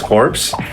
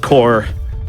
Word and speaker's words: Corps: multiple sub organizations uh U.S corpse it's pronounced core uh okay wait I